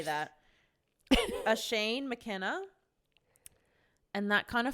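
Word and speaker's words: Oisín: i s i n it's like an Irish name so I know that it's not going to be pronounced how it's spelled how do you spell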